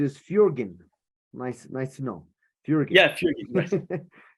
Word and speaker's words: Fjoergyn: very important to me um well the correct pronunciation is fjergen nice nice to know Fury again so we're